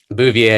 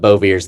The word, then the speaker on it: Bouvier: So Bouvier, if you go to France, that's the correct way to say it. But Bouvier's the Kentucky right way to say it.